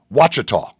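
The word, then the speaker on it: Ouachita: Watchah, that's how it's pronounced. I knew it was something not the way it looked and I couldn't remember how to how to say it. So, Henderson State Watchah Baptist.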